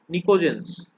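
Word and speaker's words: pnictogens: নিকোজেন্স। পিটা কিন্তু সাইলেন্ট, ঠিক আছে? নিকোজেন্স।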